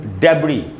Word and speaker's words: debris: ये इसका मीनिंग होता है मलबा, जो कुछ टूट के गिर जाए, मकान, कोई दीवार, उसका मलबा, उसको बोलेंगे डेब्री। एंड में जो एस है वो साइलेंट होगा, इसका उच्चारण नहीं होगा, जिसको हमको पढ़ना चाहिए डेब्री, डेब्री।